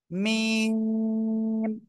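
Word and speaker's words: ميم: জোরে বলেন সবাই মিম অক্ষরটা দুই ঠোঁটের শুকনো জায়গা থেকে অর্থাৎ বাহির থেকে উচ্চারণ হবে ঠিক আছে মিম এভাবে উচ্চারণ হবে ওকে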